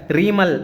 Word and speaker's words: ரிமால்: இந்த புயலை வந்து தமிழில் ஒவ்வொரு மாதிரியும் ப்ரொனன்சியேட் பண்ணுறாங்க, ஒவ்வொரு மாதிரியும் உச்சரிக்கிறாங்க. ரீமல் அப்படிங்கிறாங்க, ரிமோல்னு சொல்கிறாங்க, ரிமெல்னு சொல்கிறாங்க. நீங்கள் தோராயமாக இந்த மாதிரி பார்த்துங்க, ரிமால் அப்படிங்கிற ஒரு புயல்னே பார்த்துங்க.